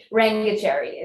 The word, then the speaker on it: Rangachari: pronounced his name because I just massacred Mazer. So yeah, Rangachari is it's Dr.